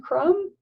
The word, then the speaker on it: crumb: And then we have another silent letter pair. M. Just like comb. MB.